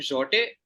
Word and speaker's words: Jatte: Jatte. Yep. So the answer is the Grand Jote. Okay, that's the pronunciation, is it?